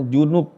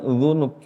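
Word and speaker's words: ذنوب: Jangan sampai salah baca. Ini ada imam saya dengar bacanya junub bukan dzunub. Pakai zal harusnya pakai dalal dia pakai apa? Jim.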